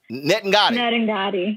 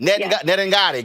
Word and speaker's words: Nedungadi: Nedungadi, did I pronounce it right? Hold on. Nedungadi. Nedungadi.